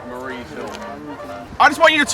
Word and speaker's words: Marye's Hill: Marie's Hill is spelled like Mary with an E on the end. Marie's Hill.